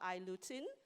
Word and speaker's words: I-lutein: Somehow, some people find it hard to pronounce this. It's called I-lutein.